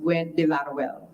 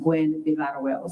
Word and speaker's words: Gwinn-Villaroel: But it is pronounced Gwinn-Villaroel. So it's actually pronounced Gwinn-Villaroel.